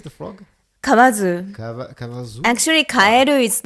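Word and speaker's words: かえる: Actually, kaeru is like recently normally the people saying like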